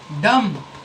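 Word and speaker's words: dumb: एम के बाद किसी भी सेंटेंस में एम के बाद बी आ जाए तो बी साइलेंट होगा। कॉम कॉम मतलब कंघी। डम।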